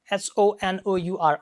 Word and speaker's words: honor: e i r a h o n o r honor although they begin with h later okay they are not pronounced like her they are lust that's